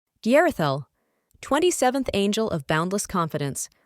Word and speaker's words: Yerathel: Name: Yerathel, pronounced Yerathel.